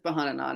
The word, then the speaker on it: Bhanana: Bahanana. Um, so it sounds like banana, but it's Bahanana.